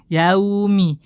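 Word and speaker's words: يَوْمِ: kemudian kesan setelahnya adalah Menghilangkan sifat Lin pada lafaz yaumi jadi Lin itu ee secara bahasa lembut akan tapi yang dimaksudkan adalah dia muda pengucapannya Jangan sampai kita mempersulit diri kita memperberat tata cara pengucapannya dengan terlalu menekan Maliki ya ya ya Maliki yaumiddin Maliki yaah ini hati-hati lembut rileks mudah Maliki yaumid Maliki yaumid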